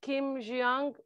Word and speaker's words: Kim Hyejung: Hyejung, correct me if I'm not pronouncing it, but I think it's Kim Hyejung, born 1982.